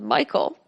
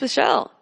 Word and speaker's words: Michael: it was Michael, and the girl was adamant it was pronounced Michelle. Mom, bemused, said it's literally a name from the Bible. It's pronounced Michael and has been for thousands of years.